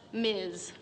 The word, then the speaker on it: Ms: things equal we have this new designation in front of our names ms pronounced miz but honey that ain't